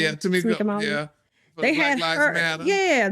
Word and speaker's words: Tamika Mallory: Yeah, Tamika Mallory.